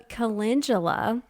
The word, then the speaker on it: calendula: that one in here because we both thought that it was pronounced that way and then later on um growing that particular flower I came to find out that was not how you said it so calendula it sounds so much